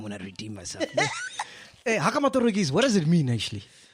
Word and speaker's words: Haka Matorokosi: So when you released Haka, Matorokosi, Hey. that's how you pronounce it, ne?